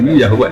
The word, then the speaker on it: Yahweh: Tuhan Yahudi tunggal Yahweh napa? Ya. Nak tengejaan Latin Y besar A H besar W E H Yahweh.